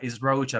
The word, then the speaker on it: Rocha: Is Rocha, not Roca. People will think that I'm Italian, but I'm not.